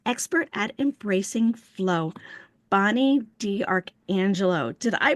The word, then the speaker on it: D'Arcangelo: I'd like to introduce our guest today, an expert at embracing flow, Bonnie D. Archangelo. Did I pronounce that correctly?